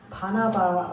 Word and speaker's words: 바나바: 그 강도는 바라바고 오늘 본문은 니은인 바나바예요.